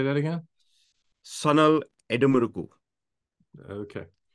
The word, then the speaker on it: Sanal Edemaruku: Sanal Edemaruku. Okay. Like, if you think there's absolutely the one key thing to remember about Indian names is that there are no syllable stresses anywhere unless otherwise specified.